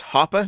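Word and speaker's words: Hoppe: So, you said his the way to pronounce the name is Hoa, not hop. I always say it hop. It's it's Hoa, unless you're watching Dr. Walter Block and he'll say Hoppy, but that's mostly because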